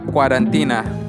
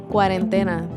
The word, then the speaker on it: cuarentena: I hope that they're not cuarentina. Are they cuarentina? Cuarentina. How do you say quarantine in Spanish? Cuarentena.